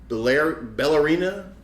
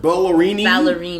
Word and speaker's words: Ballerini: Let's go with Ballerini. Ballerini. There you go. That's probably more Ballerini.